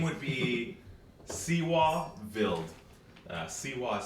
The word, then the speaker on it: Vild: So the name would be Seewa Vild. Seewa is spelled Seewa. Last name Vild, V-I-L-D.